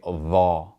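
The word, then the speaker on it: ظَ: And when it has a fatha, we're going to pronounce that A sound like all. So we would say dha rather than tha.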